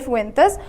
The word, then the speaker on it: Fuentes: तो इट्स the pronunciation is GL Fuentes।